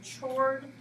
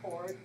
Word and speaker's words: chord: related to circles or it looks like it would be chored but it's pronounced chord a chord is a